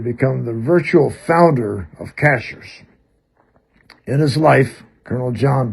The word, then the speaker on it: Cashiers: And it was that way for about 25 years, and then the pronunciation stayed the same, Cachers, even though it was spelled properly, Chashiers.